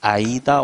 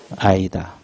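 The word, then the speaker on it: AIDA: 자, 그러면 가장 먼저 나온 것이 아이다 원리가 있어요. A-I-D-A. 이걸 읽을 때 아이다라고 읽어요. 자, 그러면 아이다란 뜻이 뭐예요?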